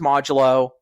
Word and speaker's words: Modulo: And um it is pronounced modulo.